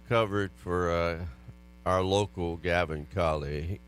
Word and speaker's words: Calais: I noticed the way you covered for our local Gavin Calais. You said Calais with 1L. Well, so that's how it's spelled.